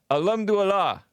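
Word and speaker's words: الحمد لله: And what, Nick, our resident Muslim, how do you pronounce that last word that she says? Alhamdulillah.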